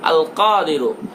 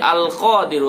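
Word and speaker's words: القادر: আল কাদিরু আল কাদিরু এটা বললে হবে না আল কাদিরু কাদিরু গলার মধ্য থেকে আল কাদিরু এটা আপনাকে পাঠ করতে হবে দৈনিক 250 বার দৈনিক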